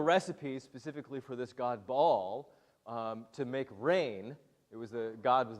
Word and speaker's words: Baal: She worshipped or would have worshipped a god called Baal. Maybe some of you know, actually it's properly pronounced Baal, but we won't get into what a glottal stop is. This god Baal was worshipped for, hundreds and thousands of years.